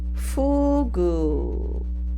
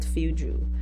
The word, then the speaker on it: fugu: this one first part it's pronounced as Fugu all right Fugu not fuju Fugu from Japan let's go with you